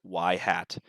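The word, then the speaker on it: ŷ: The predicted value is also known as y hat. That's how this is pronounced, y hat.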